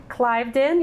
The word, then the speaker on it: Cliveden: And then right down the street, also in Sanford, is it Cliveden? Cliveden, yep. So I said it right?